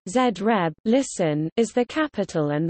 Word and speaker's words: Zagreb: Zagreb, Croatian pronunciation, Zreb, listen, is the capital and the largest city of Croatia.